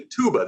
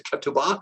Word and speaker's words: ketubah: You might have heard the ketubah. That's sort of a Yiddish pronunciation, but it's a ketubah, and it's covenant.